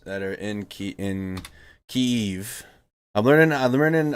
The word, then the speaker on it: Kyiv: it's not kiev and it's not kiev it's kiev like you gotta it's like one it's a one syllable word that you gotta make two syllables out of that's the proper way to say it and i've been